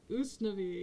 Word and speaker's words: Usnavi: I'm from Germany uh us name is pronounced usnavi yeah okay that's better that's